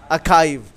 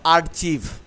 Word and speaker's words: archive: The right pronunciation is archive. It's not archive.